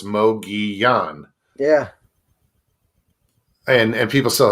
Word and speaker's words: Mogollon: silent it's there there's they're pronounced like the spanish yeah right right so